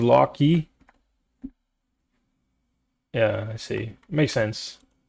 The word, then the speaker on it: Loki: It's like Loki. But it was a bouquet, so I always call him Lucky, guys. I might I might stream for another pronounces lock key.